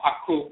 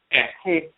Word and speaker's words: Aakhu: But the key is, again, when you talk about the nasal pronunciation in the Akan tradition, this is where you get the Aakhu in Akan becomes Aakhu or Aakhu in ancient Kemet.